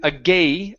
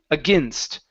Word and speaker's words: against: the word against okay so here the AI okay is pronounced like a short I so instead of saying a gay against it's a against against against all right nice job